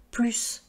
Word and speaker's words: plus: Il gagne plus d'argent. Il est plus nerveux. Alors, comment on sait si on doit prononcer le S? C'est quand on va pouvoir remplacer par davantage.